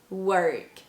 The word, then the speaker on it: work: first one is work work and it's the same pronunciation as word word work word to work one word okay so it's an uh sound like a bird bird that's the same okay